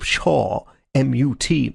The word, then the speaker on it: Shawmut: P S H A W. Shaw. M U T Mut. Shawmut, so-called because the inhabitants are always muttering Shaw.